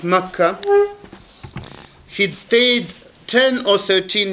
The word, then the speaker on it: Makkah: them was that he'd stayed in mecca which we pronounce in arabic makkah he'd stayed 10 or